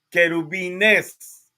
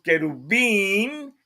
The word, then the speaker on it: querubín: querubín ya es plural el error que cometemos los hispanoamericanos es que decimos querubiness eso es un error grande en la palabra correcta es querub para uno y cuando decimos querubín en la sílaba in al final ya marca pluralidad en el hebreo así que así querubín ya estamos hablando de muchos pero bueno nos dice